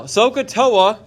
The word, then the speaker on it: SOHCAHTOA: is that sohcahtoa now sohcahtoa that's how you pronounce that s-o-h-c-a-h-t-o-a sokatoa is a theorem we're going to use and it's an actually an acronym sohcahtoa is an acronym yes it sounds like sacagawea all right so i